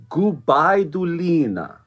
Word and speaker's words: Gubaidulina: But so also it's Sofia Gubaidulina. There we go. That's the wonderful pronunciation.